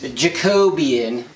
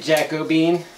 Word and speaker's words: Jacobean: these one by twos this Jacobian Jacobean Jacobian somebody is nice enough to correct our pronunciation of the name of the state you haha we're calling it Jacobean look like Jacobean Jacobean